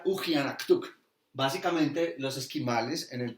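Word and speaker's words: uggianaqtuq: La palabra significa extraño y se pronuncia Ujianaktuk.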